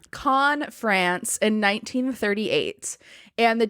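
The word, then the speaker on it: Caen: friend romy ghibli and they took off to keynes france in 1938 con con i know it's no s no it's pronounced con france in 1938 and the two of them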